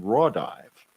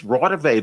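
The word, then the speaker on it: Raudive: a minute he didn't he just mispronounced it it's rotterday that's i know who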